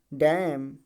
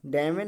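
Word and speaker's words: damn: जाएगा तो hymn hymn डैम डैम डैमन नहीं पढ़ा जाएगा डैमन नहीं पढ़ा जाएगा डैम पढ़ा जाएगा ठीक है उसके बाद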